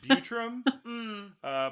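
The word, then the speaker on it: Buttram: It's spelled butt ram, but I'm going to assume it's Butram.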